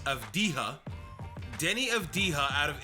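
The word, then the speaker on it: Avdija: his name wrong there it's not of deja it's it's of dija denny of dija out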